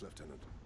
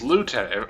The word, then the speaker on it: lieutenant: say it right now I absolutely hate how the British say left tenant it's Lieutenant actually am I saying now am I saying it wrong oh God it drives